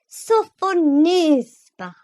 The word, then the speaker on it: Sophonisba: lips, and said again, with an aggravating accent on the third syllable. Sophonisba.